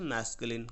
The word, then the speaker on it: masculine: क्या होता है बच्चों, आपके इसकी प्रोनाउंसिएशन पे बहुत ध्यान देना है, आप लोग बहुत गलती करते हैं, ठीक है। तो यहाँ पे आप देखिए मैस्कुलिन क्या होता है, मैस्कुलिन बोलते हैं इसके, MASCULINE, मैस्कुलिन, ठीक है, मैस्कुलिन, ठीक है, ठीक है।